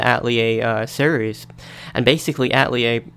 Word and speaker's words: Atelier: big at lear series well they call it at lear it's really supposed to be pronounced at lea a I suppose but this